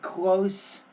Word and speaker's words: closeness: Also the word closeness. You're not pronouncing the S sound in the middle of that word, but the biggest problem here when you're reading, you're going like this.